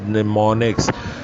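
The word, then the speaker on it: mnemonics: यह हम साइलेंट है यह हम साइलेंट है अपडेट्स निमोनिक्स बोलेंगे हम निमोनिक्स क्लिक करें लिखेंगे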